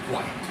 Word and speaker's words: quiet: should uh it should it should rhyme with what yes diet that's right diet all right so put